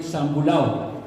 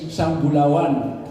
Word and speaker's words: Sambulawan: They call it Sambulao. But the name in Iranon there is Sambulawan.